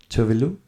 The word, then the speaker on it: Tove Lo: It might be, but I think it is a Swedish name, and she pronounces Tove Lo.